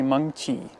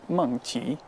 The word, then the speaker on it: Mengqi: It's actually Mengqi, and it has tone to it. It's Mengqi.